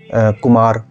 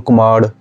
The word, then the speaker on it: कुमार: वो र को भी अड़ प्रोनाउंस कर देते हैं। जैसे आप उसने बोलना है कुमार, तो कुमाड़। र में भी ये ज़्यादातर